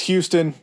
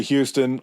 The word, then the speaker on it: Houston: It's Houston. Everything in my mind wants to say Houston.